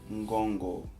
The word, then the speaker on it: Ngongo: A letra M e a letra N servem para nasalar o som da sílaba seguinte. Dois exemplos. Mbolo, Ngongo. Mbolo, Ngongo. Se vocês repararem bem, eu li Mbolo e Ngongo. Não. Mbolo nem Ngongo. Lê-se Mbolo, Ngongo.